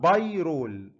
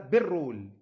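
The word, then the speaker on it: pyrrole: خدوا بالكم من حته بايرول دي، ان الواي بتتنطق بايرول، في خطأ شائع والناس بتلهمل الواي دي وتقولها بيرول، ما تنطقش الواي، تقول لك بيرول، لا مش بيرول، هو بايرول، اسمه بايرول.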